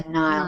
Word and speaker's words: Nile: We pronounce that the Nile. Nile.